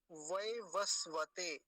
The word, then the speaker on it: वैवस्वत: बोलेंगे अगला शब्द देखिए वैवस्वत वैवस्वत पहला जो वकार है उस पर आकार की मात्रा है व वस वत फिर से देखिए व